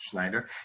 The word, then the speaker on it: Schneider: email address is s dot B dot slider Schneider is pronounced s is the student pronounced Schneider it's spelled SCH n ii i de r